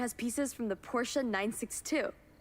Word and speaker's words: Porsche: is currently worth American saying Porsche actually annoys It annoys me doing well. It's a Porsche. It's a Porsche. It's one syllable like a Porsche, but you have a list.